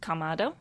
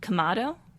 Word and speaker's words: Kamado: So, Kamado. Kamado. And as far as inflections goes, they say it pretty straightforward. It is just Kamado. It is not Kamado. It is just Kamado.